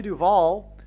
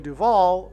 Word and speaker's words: Duvall: And so Shelley Duvall, her name rhymes with Hall, and Paul Simon and Shelley Duvall met on the movie set of Annie Hall.